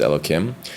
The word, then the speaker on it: Elohim: So the word here, Elohim, here means a ruler. It doesn't mean a god. When it's referring to Hashem, then you have to pronounce it as Elokim.